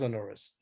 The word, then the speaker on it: Onuris: Onuris, I think, is the normal pronunciation. Go again? Onuris. Onuris, right? Okay, so it is Onuris.